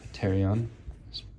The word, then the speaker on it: pterion: Pronounced pterion.